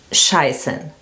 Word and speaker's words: scheißen: is schießen, so that means to shoot, and scheißen, that means to shit.